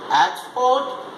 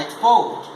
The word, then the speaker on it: export: But if the stress is shifted to the second syllable, they will start functioning as verb. For example, export and export, and object and object.